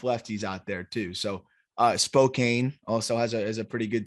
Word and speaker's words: Spokane: to know that, but there's an E in there. It's Spokane is a very, very fair, I feel like, pronunciation there. I understand. I'll wear Zach Veen being too low. I'm gonna just say it should be Spokane.